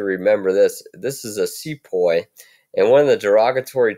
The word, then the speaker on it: Sepoy: that would be so here's a Sepoy rhymes with boy and here you see